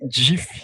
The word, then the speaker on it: GIF: É porque o inventor ele inventou que tem que ser DIF, né? Ele já falou que a pronúncia é como se fosse com J.